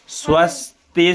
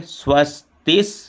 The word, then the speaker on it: स्वस्ति: अगला देखें स्वस्ति स्तु एक चीज ध्यान देंगे जब आधा स के साथ अन्य वर्णों को उच्चारण करना होता है तो शुरू में क्या होता आ या ई का उच्चारण हो जाता है तो इससे बचना है कि आ और ई का उच्चारण ना हो स्वस्ति स्तु इसमें पहले